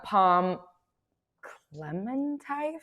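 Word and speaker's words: Pom Klementieff: Also, Palm Clementif is how you pronounce her name.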